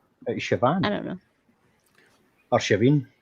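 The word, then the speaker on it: Samhain: I'm assassin I don't some say s but it's actually Shan no I'm gonna Sayan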